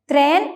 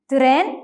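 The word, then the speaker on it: tren: ഈ പദത്തിൽ ടി, ആർ എന്നീ 2 ലെറ്റേഴ്സ് ചേർന്ന് വന്നിട്ടുണ്ടെങ്കിലും ഇംഗ്ലീഷിലേതുപോലെ ത്രേൻ എന്നതിന് പകരം തിറേൻ എന്നാണ് പറയേണ്ടത്. തിറേൻ. അതായത് ടി, ആർ എന്നീ 2 ലെറ്റേഴ്സിനിടയിൽ എന്നൊരു സൗണ്ട് ഉൾപ്പെടുത്തി വേണം ഈ വാക്ക് ഉച്ചരിക്കാൻ.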